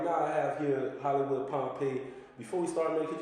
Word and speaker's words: Pompeii: That's Pompeii, pronounced Pompeii, like Pompeii.